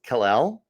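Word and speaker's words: Kel'el: to bring in uh I believe it's pronounced Kalel like like uh like Superman Kalel where he is the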